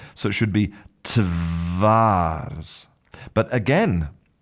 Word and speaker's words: twarz: And in Polish, the word for face is spelt t w a r z. And the correct pronunciation should be twarz. So, the the w letter represents a voiced sound, v v, like the